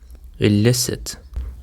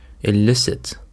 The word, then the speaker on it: elicit: And for the first word we have got elicit. Elicit. The stress is on the second syllable. Elicit.